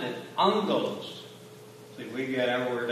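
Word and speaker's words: ἄγγελος: When you have a hard G, a vowel in front of a hard G, you say it fast, you tend to get an N in there.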